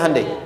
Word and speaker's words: Hyundai: Sehingga ketika di sana bikin Honda, sini Hande Hyundai kan dibacanya Handai ya kan? Sana Honda, sini Handai gitu.